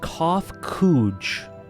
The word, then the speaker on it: Kofkuj: As for nomenclature to address my individual person, I believe it would be pronounced Kofkuj.